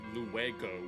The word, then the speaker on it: luego: trying to speak it, you'd say luego with a hard G, but it's not technically a G because it's in between two vowels. It's a soft G. It's kind of hard to hear. It's like a mix between a G and an H, but obviously in Chile